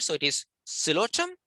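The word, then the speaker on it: Psilotum: With this, the P is silent, so it is silotum, right? The P is silent, and they are the least complex form of terrestrial vascular plants, actually.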